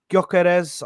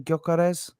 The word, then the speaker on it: Gyökeres: Obviously, Gyökeres. I think that's how you say his name. Gyökeres. The G is silent. Gyökeres.